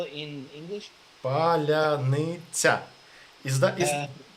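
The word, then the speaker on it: паляниця: Palyanytsia. Is Uh, Palyanytsia. It was a password in the first day of war because Russian can't pronounce Palyanytsia.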